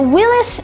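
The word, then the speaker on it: Willys: was called willis and this is willis spelled w-i-l-l-y-s so that's interesting now willis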